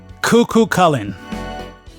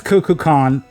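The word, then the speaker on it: Kukulkan: you remember this name, Cuckoo Cullen. So, yeah, if you It's Cuckoo Khan. I I said it wrong. Oh man, that was bad.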